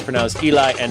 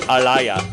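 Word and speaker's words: אֵלִי: went too fast sorry note that Eli is pronounced Eli and not Alya which is true note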